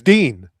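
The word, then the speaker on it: Din: No, his name's Dean. Oh, is it Dean? Why did I think it was Den Thomas? Because it's spelled Den. It's spelled D-I-N, but his name is Dean.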